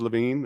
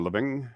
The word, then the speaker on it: Lavigne: not from Quebec uh my last name's Levine or living it depends where you are and how you say it uh I'll take all